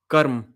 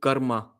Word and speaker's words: karm: That like karm. Karm is a it was a Sanskrit word karma, and then it was a Hindi word karm. You guys butchered it into karma. Karma is nothing. It is karm.